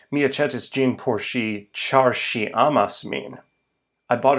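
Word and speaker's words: ĉar: It links two separate sentences, and it's pronounced char.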